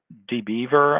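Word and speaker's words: DBeaver: that's very popular is called de beaver I think if I'm pronouncing that I don't know what the official pronunciation is but obviously they're going for the DB database and then Beaver because it's a cute cute f a animal and so there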